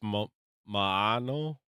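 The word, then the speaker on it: Maono: I don't know how to pronounce it, but it's mano. Mano. It's my microphone that I got. You got like mono like mono. No, it's m a o n o. Mano.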